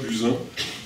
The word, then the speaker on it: Buzyn: un invité témoin exceptionnel, Élie Buzyn, on va prononcer comme ça, Buzyn, même si l'origine du nom n'est pas nécessairement française. Et évidemment, il y a